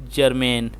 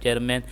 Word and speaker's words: germane: What you are saying is not germane. So to what we are discussing, the G is pronounced like the G in gentle.